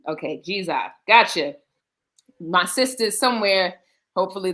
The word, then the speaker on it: Dzidzor: Now, tell me, is y'all are saying Ziza? Zija, like what? like DZ pronounced G. G, yeah. So G, okay, Ziza.